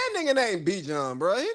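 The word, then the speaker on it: Bijan: You know good and damn well anybody's name who is Be John is if your name is spelled B I J A N, your name is Be John.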